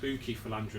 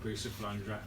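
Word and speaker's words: Bucephalandra: people when they buy bua actually pronounced Bui fandra not bua fandra um I'd always recommend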